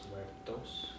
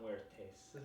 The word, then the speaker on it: muertos: I think it may be Dia de los Muertos. I might be saying it wrong, but according to my white friend John, it might be Dia de los Muertos. Muertos, not muertes. I've been saying tes, huh?